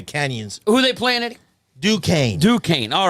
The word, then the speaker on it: Duquesne: It's Duquesne. This man is a college scholar. Unbelievable. Yeah. College of the Canyons. Who they playing at? Duquesne.